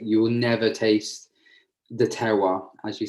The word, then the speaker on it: terroir: you also taste the terroir. Okay. Sorry for my pronunciation. No, terroir is perfect. It's a French word, so no one could pronounce it anyway.